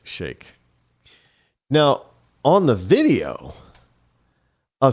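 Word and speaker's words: Sheikh: the so-called blind Shake I know some people pronounce it Sheik but it's actually pronounced Shake now on the video a three judge ninth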